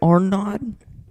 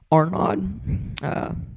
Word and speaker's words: Arnaud: I think it's Arnaud. It's like a D and then the little comma thing. No. What is it called? Apostrophe. Arnaud.